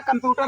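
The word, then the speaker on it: computer: तो आपको क्या पता, COM कम तक पढ़ेंगे, फिर PU, चूंकि U जो है वो P को ले लेगा अपने साथ में, प्यू है, और TER, T के पहले T लगा देंगे, कंप्यूटर, नहीं तो हम इसको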